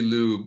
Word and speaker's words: Liu: But it's technically pronounced Liu. Sorry, if you use the correct tones, it's Liu. But if you're using American English, it would be Liu.